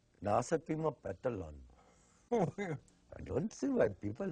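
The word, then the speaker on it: Nahasapeemapetilon: Nasapima Petalon. I don't see why people have such a hard time. Just for now, it's spelled like it sounds.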